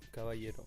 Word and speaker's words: Caballero: Tu peux peut-être rappeler, ouais, donc c'est CABA2LERO, Caballero. Voilà, ça se dit comme ça et ça s'écrit comme je viens de le dire.